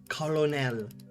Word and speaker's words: colonel: one also i hate the word colonel because it's it's not spelled like kernel at all colonel in my brain i